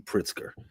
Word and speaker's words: Pritzker: Pritzker.